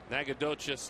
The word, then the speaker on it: Nacogdoches: How do you pronounce that Texas town? Nacogdoches, Texas.